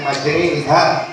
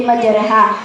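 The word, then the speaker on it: مجراها: Tapi kenapa dibaca dengan majriha? Coba sebutkan dan jelaskan apa hukumnya. Imalah itu adalah memirikan antara harokat fathah dan kasroh. Jadi bacanya condong miring dari harokat fathah ke harokat kasroh, atau seolah-olah dibaca Imalahnya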